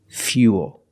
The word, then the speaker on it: fuel: But remember, with fuel, we have the same spelling pattern, but the pronunciation is a little different. We put that y sound in there. Fuel.